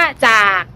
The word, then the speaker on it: จาก: สะกด นะ คะ อ่า หรือ แม้ แต่ คำ ว่า จาก จ อาก จาก นัก เรียน ก็ จะ พูด เป็น จะ จะ ก็ คือ จะ ไม่ มี เสียง ตัว สะกด เลย นะ คะ ซึ่ง การ